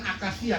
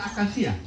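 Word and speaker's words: acacia: Iya, ada tulisan akasia. Kamu pernah lihat tulisan akasia? Tulisannya A-C-A-C-I-A. Dua C-nya tuh. Tapi begitu dua-dua tidak sama bacanya. Yang satu A, yang satu sia.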